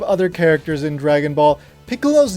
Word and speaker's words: Piccolo: Perhaps the key point here that a lot of native English speakers might miss is the double consonant in the middle of the word. Piccolo. It's not Piccolo, it's Piccolo.